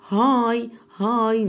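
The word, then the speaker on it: high: هاي مش هنطق الجي والاتش، هاي اهي، هاي عالية.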